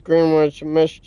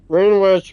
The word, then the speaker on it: Greenwich: And GMT is Greenwich mean, I'm sorry, Greenwich Mean Time, I think is how it's pronounced.